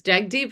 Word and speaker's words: Jagdeep: We need to test the pronunciation of everybody's names. Jack Deep, is that correct?